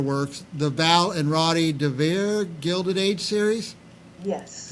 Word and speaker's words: DeVere: the Val and Roddy DeVere Gilded Age series. Yes. Now, was I close in the pronunciation? That's absolutely right.